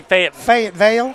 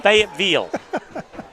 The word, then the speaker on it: Fayetteville: You can't say Fayetteville. Fayetteville. That's how you say it.